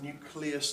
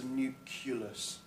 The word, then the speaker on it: nucleus: is the nucleus and it's a nucleus look not a Nuke ulis so just about the pronunciation there and what we say